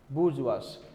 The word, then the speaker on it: bourgeois: So, pronunciation is bourgeois.